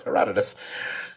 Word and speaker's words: Herodotus: sure it wasn't it's not herodotus no it's herodotus the quote being or the the most commonly